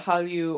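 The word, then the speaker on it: Hallyu: you know in Korea we often call it Halu or you know for non- Koreans who we think can can't pronounce Halu we say Korean wave um because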